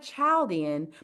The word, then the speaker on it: Chaldean: So it looks like Chaldean, but they pronounce it Chaldean numerology.